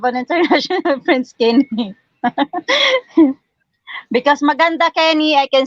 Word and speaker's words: maganda: which means beautiful okay I I I wondered if I was pronouncing that that right M so it is Manda yeah it is maganda which means beautiful okay